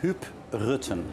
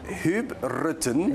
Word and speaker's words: Huub Rutten: Do I pronounce it correctly? Yeah, RUTTEN? Huub RUTTEN. Huub RUTTEN.